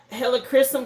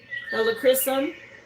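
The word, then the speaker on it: Helichrysum: I mentioned Leo season, but hella crysum came out. This boosts resilience. Um, it's spelled H E L I C H R Y S U M. Helocchrysum, which is an herb.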